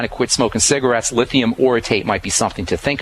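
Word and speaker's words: orotate: One of my favorite is lithium oritate. And that second word is spelled O R O T A T E.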